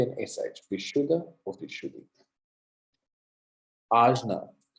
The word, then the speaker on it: Ajna: Ajna, Ajna or Anya, Ajna or Anya. That kind of that Spanish N with the little squiggle over it, that sound